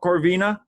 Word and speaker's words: Corvina: do you say your last name it's cor corvina yeah so uh so my actual last name is okay vina is actually my middle name so corvina corvina very good well thank you very much for